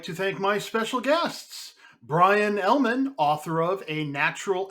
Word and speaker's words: Bryon: Oh, it's Bryon, by the way. Huh? You said it right the first time. You said it right the first time. Bryon. Oh. But then you put no. 90%. Byron.